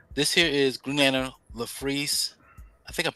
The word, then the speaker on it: Larfleeze: So this here is Green Lantern LaFreeze. I think I'm pronouncing this correctly. The Christmas special. Ooh, yeah, Larfleeze, yes. Larfleeze.